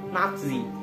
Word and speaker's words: Nazi: Di mana nama Nazi ini diambil dari kata nasional, atau lebih tepatnya pada bagian nati, di mana pelafalannya dalam bahasa Jerman itu adalah Nazi. Jadi mirip dengan Nazi.